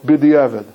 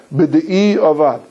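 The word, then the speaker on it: בדיעבד: If you did it, or what we call in common Mishnah Berurah lingo, b'di'evid. Right? B'di'evid is really a mispronunciation word of b'di'i avad.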